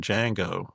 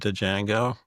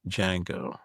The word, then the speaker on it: Django: And uh and I even mispronounced the name of song, Django. Starts with a D. And I'm an idiot. So I said, "Django."